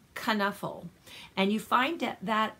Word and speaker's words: Knuffle: cautionary tale by Mo Willems now this is pronounced kana 'full and you find out that out in the